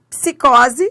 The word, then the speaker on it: psicose: Depois psicose. Ó, os dois sons são pronunciados. Os dois sons são pronunciados. Psicose. Psicose. Você, ó, você pronuncia o P e o S.